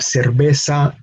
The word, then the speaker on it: cerveza: cerveza and bida and notice how the pronunciation of of the letter B is as if we were pronouncing the letter B no liberal Banco by d'Alene same pronunciation as as V so V and B in